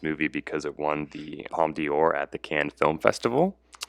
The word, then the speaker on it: Palme d'Or: What is the Palme d'Or?